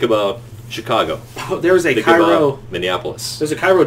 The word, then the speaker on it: Cairo: there's a Think Cairo. about Minneapolis. There's a Cairo, Georgia, but it's not Yeah.